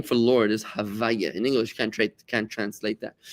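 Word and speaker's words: הויה: So God, when you say this word Yud Ke Vav Ke, we only pronounce it Havaya. We rearrange the letters because you're not allowed to say the name of God in its original form because it's like disrespectful.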